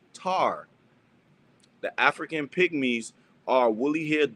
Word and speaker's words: Ptah: Ta, Ptah, is rightly pronounced Tar.